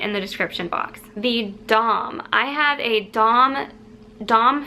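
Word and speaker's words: Dohm: will put it in the description box the Dom I have a dom dom for babies that's spelled D o h m Dom for baby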